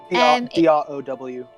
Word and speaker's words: drow: So, from last week's episode, we threw the tied up drow D-R-O-W, drow.